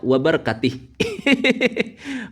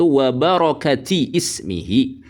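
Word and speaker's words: وبركات اسمه: Jadi bacanya itu bukan wabkati ismihi nih seperti yang dikatakan Gus Ahong ini ya. Jadi yang benar itu wabarokati ismihi bukan wabarkati.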